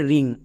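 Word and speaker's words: wring: নিয়মটা দেখে নেওয়া যাক নিয়মটা হচ্ছে ডবউর পরে যদি আর থাকে ডবউর পরে যদি আর থাকে তাহলে ডব সাইলেন্ট থাকে বোঝা গেল যেমন এক্সাম্পল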